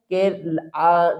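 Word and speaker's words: key: जैसे आप देखें के इ वाई तो यहां पर आपने देखा कि यह जो वर्ड है की इसके लास्ट में वाई है तो यहां पर वाई का साउंड नहीं आएगा। अर्थात वाई लेटर साइलेंट रहेगा। तो के इ वाई इसको क्या रीड करेंगे? की इसी तरह से इसको रीड करेंगे में।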